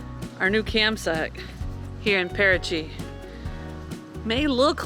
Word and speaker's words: Paraty: Paraty.